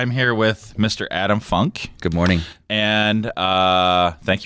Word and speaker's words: Funk: your last name it's it's the easiest last name to say and the hardest to forget it's funk and if you say